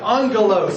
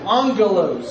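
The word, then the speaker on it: ἄγγελος: word such as this it is pronounced almost with an n Sound angalo angalo and so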